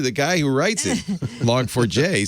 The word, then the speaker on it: Log4j: over how you pronounce log4j yeah uh some people actually say and i didn't i always said log4j but some people say log forge yeah not log forge it's log for j i've checked the guy